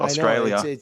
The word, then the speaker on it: Australia: have the same Syrian Australia ends with an a not an R so please uh stop with your accents there if I can't pronounce my own country I'm in trouble Australia yeah you're gonna definitely